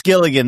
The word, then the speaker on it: Gilligan: Brandon, have you seen the new Vince, is it Is it Gilligan Is that how you pronounce his name? Yeah, it's Gilligan, the Breaking Bad creator, Better Call Saul.